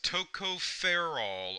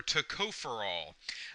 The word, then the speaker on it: tocopherol: in front and it's tocoperol or tocoperol uh depending on how you want to pronounce it and where you want to put the stress in the syllable.